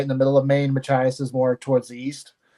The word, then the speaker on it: Machias: the Ruggles house in Columbia Falls or uh Machias if I said that correctly uh the that area I mean seems incredibly haunted um so you did pronounce it correctly it is Machias um and uh no I haven't been to